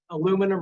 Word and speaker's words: aluminum: I walk around and I see people pushing aluminum or aluminium strollers, depending on how you say